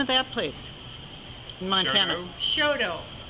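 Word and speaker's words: Choteau: of that place Mont SHO it's pronounced Sho by the Montana people but we would say Shoto it's about uh 50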